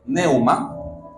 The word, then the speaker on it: pneuma: De hecho, así como en griego tenemos neuma, con P, neuma, la palabra equivalente en hebreo es ruach o ruach.